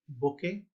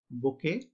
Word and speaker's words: bouquet: We can see the last T, the letter T is silent in this word, bouquet, like in the word depot.